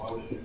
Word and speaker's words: Mauricio: Did I say it right? No, Mauricio.